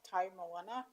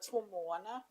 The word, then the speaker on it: Tomoana: around Māoridom so that they do pronounce Timona, not Taumoana, but Tomoana, and also around the